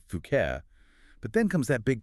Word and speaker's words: Phuket: It's so easy to imagine settling down, perhaps buying a nice place, maybe a villa overlooking the sea and say, Fuket.